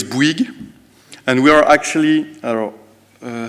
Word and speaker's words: Bouygues: So it's Bouygues, and we are actually, I think I have the pointer here.